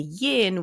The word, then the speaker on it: yin: coming in and then the yin which is rhymes with dim and that's how I remember that Yin and that's